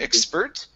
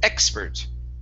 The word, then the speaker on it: expert: So, our stress is at the very beginning. Instead of expert, it's expert.